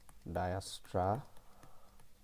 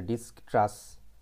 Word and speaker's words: Dijkstra: আমরা অনেকে বলি ডিস্কট্রাস বা ডায়াস্ট্রাস অনেকে বলে। আমরা হচ্ছে এটার যে জেটা আছে না, এই জেটাকে আমরা এ উচ্চারণ করব, তাইলেই হচ্ছে সঠিক উচ্চারণ হয়ে যাবে।